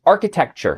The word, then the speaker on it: architecture: It's architecture.